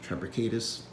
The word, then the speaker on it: triplicatus: The largest species is Stereotypus triplicatus. I've heard people pronounce it Trapecatus. Either or.